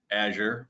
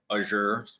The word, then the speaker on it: Azure: is azure the set most people will call it azure some people call it azure there's you know however you pronounce it's fine um i will make